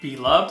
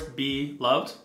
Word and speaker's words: Beloved: You can say it Beloved, almost like it's two separate words, Beloved, which works very well.